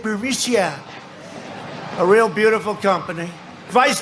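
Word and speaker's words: Burisma: with the burmese executives so this uh burmesia bermusia they say pronounce it borisia a real beautiful company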